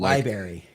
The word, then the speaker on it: library: So, but yeah, li- library is one of those letters The R in library is supposed to be pronounced. I get it when you're like younger and you don't understand that, but li- library The The R is supposed to be pronounced.